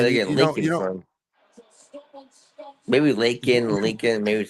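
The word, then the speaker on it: Laken: I know it's Lakin. Yeah, Lakin. I don't know where they get Lincoln from. Maybe Lakin, Lincoln, maybe it sounds the same.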